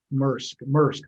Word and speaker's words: Maersk: Am I pronouncing it right? SAC? What's the big Maersk? Maersk, there you go.